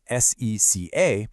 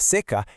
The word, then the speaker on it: seca: It's spelled identically, s e c a, but in a roupa está seca, it's pronounced seca with a closed vowel sound and it means dry. But in castigado pela seca, it's pronounced seca with